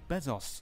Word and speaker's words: Bezos: In other news, Jeff Bezos.